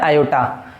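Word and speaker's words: iota: ठीक, इसका प्रोनाउंसिएशन होता है आयोटा, इसको पढ़ते भी है आयोटा।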